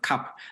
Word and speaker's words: Kap: it so so it's it's basically just pronounced cap so cap is one